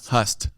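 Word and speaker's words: Høstfest: transition that the Norsk Hostfest has had to. How do you say it? I'm saying Hostfest. I should have done I don't want this guy in the community. Hust. That's the key.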